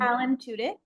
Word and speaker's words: Alan Tudyk: Alan Tudyk.